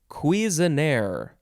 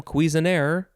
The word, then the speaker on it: Cuisenaire: Next is cuisinière.